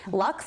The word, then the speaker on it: luxe: fancy schmancy high-end glamorous luxe i would say lux yes it's short well it's its own word but i always think of luxurious okay sumptuous um to